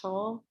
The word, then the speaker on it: Tolle: Someone asked, they said that they like Eckhart Tolle. Is that how you say his name? Tolle? Heard it pronounced both ways.